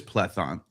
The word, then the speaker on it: Plethon: I was right. It is plethon. So it's not plethon. I don't know what he's talking about. I'm look I'm looking up the the correct English size. It says plethon. So I said it right.